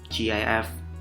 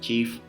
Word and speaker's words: GIF: use some you know gif or we call it as chief or gif it depends on how you pronounce it or you know motion